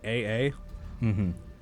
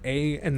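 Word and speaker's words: A∴A∴: usually it says here just to pronounce it AA, Alcoholics Anonymous, no. But the symbols here are A, and then you know the 3 dots in math that mean therefore? Yes, yeah. Yeah, it's A, therefore, A, therefore. Okay. Which isn't how it's pronounced, apparently. Apparently it's just AA.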